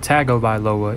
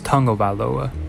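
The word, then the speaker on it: Tagovailoa: gonna say it correctly it's not tackled by Loa it's tango by Loa thank you all for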